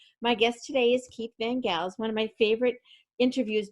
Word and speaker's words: Van Gels: Is that how you pronounce it? Yes, that is how you pronounce it. You're Yes. one of the first people to pronounce it correctly the first time. Well, I heard you say it. I heard you say your name because I would have made it a soft G.